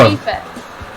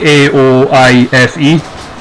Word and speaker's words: Aoife: What is her first name? Eva. Aoife. But it's like Gaelic spelling, so it's like Aoife. Oh, it's Aoife, that with name. the F. Aoife.